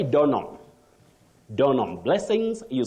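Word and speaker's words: Donholm: that guide the pronunciation the H in that name is not pronounced you say Don not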